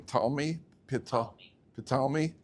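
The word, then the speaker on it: Ptolemy: Talmi petali with the the silent P like he was a psychologist probably and uh uh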